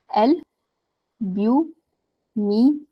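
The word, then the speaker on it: albuminous: Okay, L एल ब्यूमिनस। ए एल is just L, एल ब्यूमिनस, एल्ब्यूमिनस।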